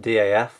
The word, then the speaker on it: DAF: As I've heard a few people pronounce it DAF, but I pronounce it DAF.